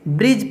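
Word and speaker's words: bridge: ठीक है, यहाँ पे डी साइलेंट है क्योंकि डी के बाद जी ई है, डी के बाद जी ई रहेगा तो हम लोग डी को नहीं पढ़ते हैं, ब्रिज पढ़ेंगे सिर्फ।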